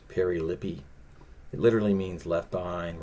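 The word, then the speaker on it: περιλείπομαι: It's Strong's number 4035, and it's pronounced perilippi.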